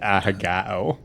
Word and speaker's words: ahegao: Is it ahagao or is it ahego? Alan pronounces it ahagao. Okay. Puts a Not saying glottal what it stop. actually is, but yeah, there's a glottal stop in there.